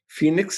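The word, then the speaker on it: Fenyx: Phoenix is spelled weird. It's F-E-N-Y-X.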